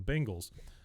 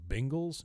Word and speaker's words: Bengals: night football game and they lost to the Bengals, which, by the way, everybody on TV who's an announcer, learn how to say the word Bengals, not Bengals, Yeah, they say because the I Bengals.